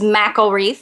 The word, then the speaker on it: McElreath: thriving through tragedy part two we had Kelly mcelreath on last week and um I kept pronouncing her name incorrectly so it is mcelreath so I want to say that she is